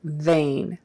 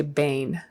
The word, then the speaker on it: vain: B versus V they So Vain don't say Bane vain uh people will notice if you try to substitute a B for a v in English Standard American English so